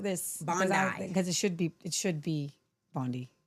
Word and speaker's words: Bondi: Bondi.